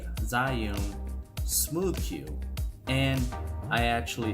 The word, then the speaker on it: Zhiyun: have so you've got this zoom crane or ew i think is the correct pronunciation zyoung crane b2 which is